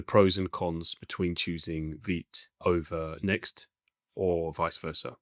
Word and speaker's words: Vite: So I just checked the pronunciation for the first option here and it's actually vit not v.